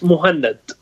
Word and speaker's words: Mohanad: if it was Mahon Muhannad or muhanad or yeah it's it's it's more handed just Mohammed with an N it's easy yeah exactly